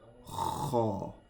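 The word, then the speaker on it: خ: Once again, this one is pronounced from the throat. Kha.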